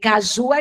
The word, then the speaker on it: caju: A sílaba tônica de caju é ju.